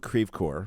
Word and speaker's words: Creve Coeur: It's in Creve Coeur. I know. Don't you dare Don't you dare pronounce it it correct properly.